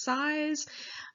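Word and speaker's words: Szasz: disorders fourth is societal disapproval so thomas says size uh it's spelled s-z-a-s-z said that mental illness was a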